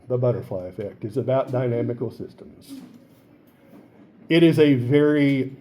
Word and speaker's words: dynamical: This is because weather is inherently what we call a dynamical system. D-Y-N-A-M-I-C-A-L. Dynamical. Not dynamic, dynamical.